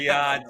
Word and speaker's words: Riyadh: But UFC Noche, Rida season, or how do you say that word? Riyadh season.